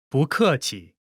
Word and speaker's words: 不客气: When 不， is followed by a fourth tone, its tone changes from the fourth tone to the second tone.